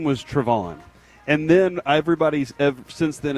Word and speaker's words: Trevon: See, this is weird because Trayvon Diggs told me his name was Trevon. And then everybody since then has said Trayvon.